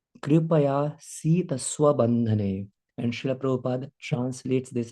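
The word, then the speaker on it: कृपयासीत् स्वबन्धने: कभी कभी कुछ लोग कृपा सीत बंधने ऐसे बोल देते हैं. मैं भी बोल सकता था ऐसे, लेकिन the right pronunciation is दृष्ट्वा परिश्रम कृष्ण कृपया सीत स्वबंधने.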